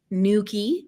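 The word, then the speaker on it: Newquay: of my entire life went to tentagel marazion Nuki because I know how to say it now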